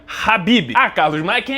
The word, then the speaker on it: Khabib: E sim, o nome se pronuncia Rabibi.